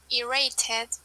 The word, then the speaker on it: irritated: This is irritated. Irritated. Here we have Irritated. yes. Okay. This is id.